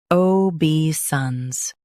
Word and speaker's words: obeisance: Stress bay and keep sons smooth.